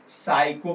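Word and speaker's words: psycho: उसी तरह से पी के बाद एस बाई अगर आ जाए तो पी साइलेंट हो जाता है। पी के बाद एस बाई आ जाता है तो पी को हम नहीं बोलते। है ना? तो जैसे इसको पी एस बाई सी एच ओ साइको पढ़ेंगे।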